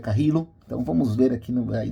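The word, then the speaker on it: Carrillo: e tem que pegar aprender a pronúncia que eu achava que era carid aí na transmissão T falando que é carrilo então vamos ver aqui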